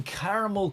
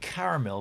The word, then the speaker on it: caramel: Now, I said caramel, but I know Americans say caramel. Caramel. You guys don't even see the A after the R. You just say caramel.